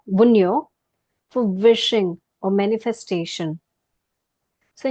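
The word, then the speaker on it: Wunjo: this it is called wo this J is silent wo or Wu see it looks like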